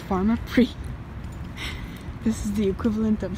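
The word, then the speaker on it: Pharmaprix: going to the pharmacy and it's not pronounced farmer pricks it's pronounced farmer 3 this is the equivalent of Shoppers Drug Mart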